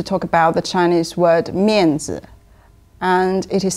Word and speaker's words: Mianzi: Today I'm going to talk about the Chinese word Mianzi, and it is spelled as M-I-A-N-Z-I.